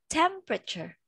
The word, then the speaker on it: temperature: What is the silent letter in this word? Between stems and rotors. Yes, E. So we don't say it. Remember that. We don't read it.